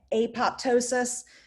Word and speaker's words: apoptosis: is physiology that's healthy i've heard the word pronounced equally as apoptosis and apoptosis it seems to just be a preference by whatever immunologist you're talking to all right we're almost